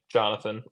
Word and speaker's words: Johnathon: if you don't know how my name is spelled, it's J O H N A T H O N, right? Jonathan. It's spelled weird.